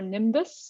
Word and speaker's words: NIMBioS: Mathematical and Biological Synthesis, or NIMBUS, I think you're supposed to pronounce it, even though it's spelled NIMBIOS, in Knoxville.